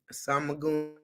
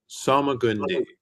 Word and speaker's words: Salmagundi: Samagundi. I don't know. Uh-huh. Salmagundi. Samagundi. There's no E. It's Salmagun. The E is silent.